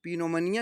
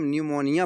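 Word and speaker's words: pneumonia: एन के पहले पी आया तो इसे हम पीनोम पिनोमोनिया नहीं पढ़ेंगे। इसे हम निमोनिया पढ़ेंगे। निमोनिया निमोनिया माने जानते हो निमोनिया होता है निमोनिया को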